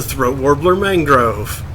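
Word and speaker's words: Raymond Luxury-Yacht: It's a throat warbler mangrove. Ooh, what are you? Kill. Speedboat. That doesn't look very speedboaty. Pronounced Raymond Luxury Yacht. It's spelled Raymond Luxury Yacht, but it's pronounced throat warbler mangrove.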